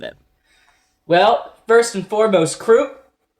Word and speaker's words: Kruppe: well first and foremost croup is that how do you say his name um I I've always had a blast in the audiobook for it the guy always says like Krupa in this nice way so I've always said